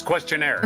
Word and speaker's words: questionnaire: It's questionnaire, there's no "t".